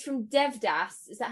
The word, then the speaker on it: Devdas: It's from Devdas. Is that how you pronounce it? Yes, Devdas.